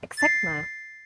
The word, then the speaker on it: eczema: And there's some like medical terms like asthma or eczema. That's like kind of hard word too. They're quite difficult to pronounce.